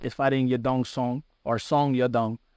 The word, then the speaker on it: Song Yadong: fighting yadong song or song yadong is how you would pronounce why you say the last name first yeah and Chinese you